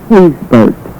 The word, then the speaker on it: Hazburg: The correct pronunciation is Hazburg.